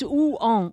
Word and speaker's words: Rouen: Well, it's because you have to realize it's two syllables. And it's Rouen.